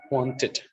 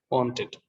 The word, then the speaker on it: wanted: But here, want, wanted, it is pronounced as it, wanted, wanted. It's not wanted because of the phonetic constraints there.